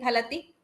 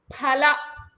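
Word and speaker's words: फल: All of you ensure that you are pronouncing it as pala. P H A pala. It is not F. You should not pronounce it as F H.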